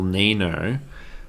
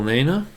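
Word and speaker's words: Niño: But that little squiggle on top of the N, it's a nya.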